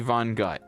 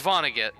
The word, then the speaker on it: Vonnegut: say slaughterhouse I mean could be Vonnegut could be von gut it's pronounced Vonnegut okay so option A